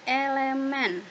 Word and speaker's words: elemen: Nah, dapat dikatakan bahwa mangga itu adalah elemen dari himpunan buah-buahan, dilambangkan dengan ini. Ini namanya elemen bacanya. Apa bacanya? Elemen.